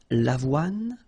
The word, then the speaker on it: l'avoine: L'avoine, remember, don't insist on the final E. L'avoine, le blé, here, accent aigu, et le maïs.